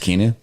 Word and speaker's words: Keanu: love keanu i believe it's kinu yeah it's pronounced kinu i know how to write comic books i